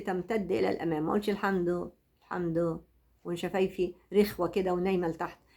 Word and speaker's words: الحمد: يبقى الحمد، اللام منطوقة اهي. الحمد ولازم وانا بقول شفايفي تمتد الى الامام، ما اقولش الحمد وشفايفي رخوة كده ونايمة لتحت.